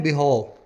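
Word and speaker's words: behove: word है बिहाव देखिए इसको अंग्रेज ओरिजिनल वाले यानी इंग्लैंड वाले बोलते हैं बिहो और अगर जो अमेरिकंस है जो अंग्रेजी बोलते हैं उनका बोलना होता है बिहू तो एक ही वर्ड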